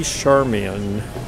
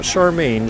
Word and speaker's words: Charmian: has applied flowers and she is lady charmian not charmaine charmian is the way it's spelled so these two little